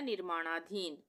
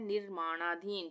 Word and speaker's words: निर्माणाधीन: तो ये हो गया निर्माणाधीन, निर्माणाधीन, निर्माणाधीन। यहाँ पे रेफ की मात्रा लगी है आधे रा के उच्चारण के लिए, हम बोल के देखते हैं निर्माणाधीन, तो निर्माणाधीन में आधे